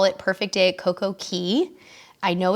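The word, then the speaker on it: CocoCay: hard perfect day at coke okay sounds way more rhyming cool but the Bahamian people mm-hmm pronounce it key and so does Royal Caribbean what's up well I'm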